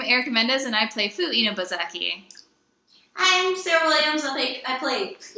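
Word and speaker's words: 犬吠埼: Inubozaki. Inubozaki.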